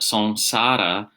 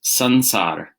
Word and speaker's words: saṃsāra: asks what is the difference stroke connection between song sada and song SCADA okay and in my pronunciation I'm using the correct pure nasal sound